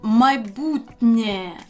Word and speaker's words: майбутнє: For example, майбутнє, the future. Майбутнє. Because of Є, Н is pronounced softly as Н.